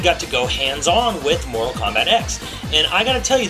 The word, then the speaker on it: Mortal Kombat X: And yes, it is pronounced Mortal Kombat X. This was confirmed to me by multiple developers at Netherrealm working on the title.